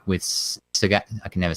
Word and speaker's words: Sagat: And it's Sagat. It's like, that's text. That doesn't work that way. Anyway, the way I normally say it rhymes with the word that, you know, Saget. Is like not Bob Saget.